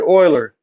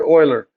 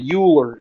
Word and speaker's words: Euler: number Oilers number Leonard Oiler Leonard Oiler it looks funny it looks funny because it's swiss but it's pronounced Oiler trust me everyone wants to say uler uler but it's Oiler